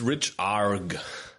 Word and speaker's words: rechargh: It's richarg.